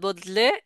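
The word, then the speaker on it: ض: এক কথায় বদ বলার সময় বদে, এটা কিন্তু মাঝের থেকে উচ্চারণ হবে না।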